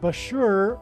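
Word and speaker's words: Bushehr: nuclear power plant and Bashur rhymes with Barker it is predicted that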